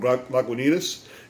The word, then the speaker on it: Lagunitas: It just says, how do you pronounce it? Lagunitas. So, a little something something from Lagunitas is a gift to me to check out from a friend of mine.